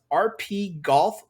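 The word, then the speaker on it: RPGolf: PS4, as well as RP Golf Legends. It's spelled RPG and then OLF, RP Golf Legends on PS5, PS4, and we also have Windjammers 2 for PS4.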